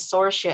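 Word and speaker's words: Saoirse: star her name is sorcia as well so it's spelled s-a-o-i-r-s-e sorcia sora should caliban okay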